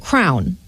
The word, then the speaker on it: crayon: on it and apparently some people also pronounce it crown yes crayon is crown and it looks like it's kind of in the East Coast southish Area we call it a crayon yeah like East All